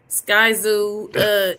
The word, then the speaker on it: Skyzoo: Skyzoo, he looked like he pretty cool. Am I saying it wrong or right? Like that's how you say it.